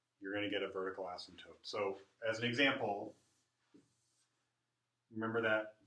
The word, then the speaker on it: asymptotes: p t OT e asymptotes you don't actually say the P so this is another case where the P is silent asymptotes f has a vertical